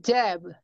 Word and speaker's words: jab: JOP로 발음해버리잖아요. 근데 JOP라는 영어 단어는 없어요. 영어에는 없는 단어예요. 그다음에 jab, 이렇게 컨투에서 이렇게 잽 넣는 거라고 하죠.